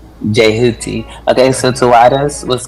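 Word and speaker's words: Djehuti: Yeah, the D is silent. It's Jehuti. Jehuti.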